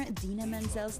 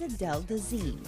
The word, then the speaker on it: Idina Menzel: from the movie frozen he mispronounced performer Idina Menzel's name as adele dazeem one and only together